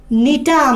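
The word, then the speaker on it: Gnetum: Example খুবই গুরুত্বপূর্ণ, example মাথায় রাখবা, এক্সাম্পল হচ্ছে নিটাম, এক্সাম্পল হচ্ছে কি নিটাম, জিটা উচ্চারণ হবে না, নিটোফাইটের যেরকম জি উচ্চারণ হয় না, নিটোফাইট নিটামের কি উচ্চারণ না, জি উচ্চারণ হয় না।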